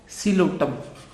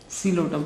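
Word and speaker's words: Psilotum: इसकी एग्जाम्पल है जी Coelotum. Coelotum. P is silent in both. Coelotum.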